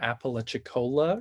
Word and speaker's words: Apalachicola: He also currently serves on the board of the Apalachicola River Keepers. I hope that's how you pronounce that.